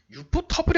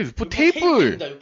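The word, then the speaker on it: ufotable: 유포 터블이 아니라 유포 테이블. 유포 테이블로 읽으셔야 돼요.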